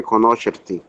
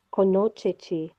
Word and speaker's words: conoscerti: Yes, è un piacere conoscerti. Oh, very good. Conoscerti. Perfect. Conoscerti. Yes. Very good, Pato. The next? Jamie? Sorry. È È un piacere. Piacere conoscerci.